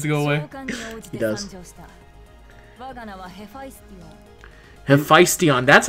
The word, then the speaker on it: Hephaestion: Hephaestion.